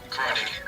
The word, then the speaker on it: Groningen: This is Groningen. Alright. No, you don't, Groningen. You don't really pronounce the G.